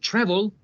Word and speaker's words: travel: As we have seen with travel, the stress is also on the first syllable, travel.